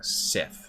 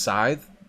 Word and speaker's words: scythe: That's not how you pronounce it. The scythe has a long. It's really pronounced scythe. I thought it was Sith this whole time, my whole life.